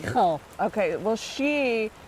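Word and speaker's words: Reichl: Reichel.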